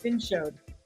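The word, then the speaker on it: vin chaud: Showed or shod is how you say hot, and vin is wine. So it's like vin showed.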